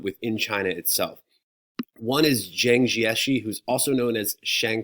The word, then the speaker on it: Jiang Jieshi: The Regents now refers to him as Jiang Jieshi, but if you go back to old questions, he was called Chiang Kai-shek because they mispronounced his name when they translated it into English.